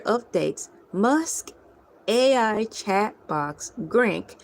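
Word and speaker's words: Grok: Musk AI chat box Grank, spelled G R O K or Grock.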